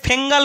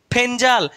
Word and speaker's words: Fengal: তাহলে এর নাম হবে ফেঞ্জাল এফ ই এন জি এল যদিও অনেকে ফেঙ্গাল বলছে বা ফগল বলছে এর একচুয়ালি উচ্চারণ হচ্ছে ফেঞ্জাল আর এই নামটি দিয়েছে